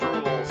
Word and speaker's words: Rouxls: Rules call- it's pronounced Rules, which is also the name of the song.